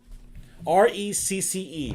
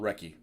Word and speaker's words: recce: Yeah, the Brits call it recce. Oh. It's the Gaelic, you know, they got the hard C type thing.